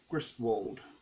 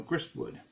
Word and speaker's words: Gristwood: made 16th century europe by sarah griswold no grist wood i keep mispronouncing her last name this is a history